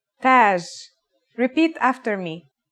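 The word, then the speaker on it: تاج: Tage. Repeat after me. Taj.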